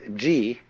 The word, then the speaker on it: ji: are so that you get the point first of all there is a a level of being which we will call G the word g which is Japanese way of pronouncing the Chinese CH is the world of